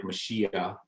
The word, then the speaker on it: Mashiach: Now it's more like Mashiach in Hebrew. So when we say Messiah, we're just badly pronouncing our Hebrew.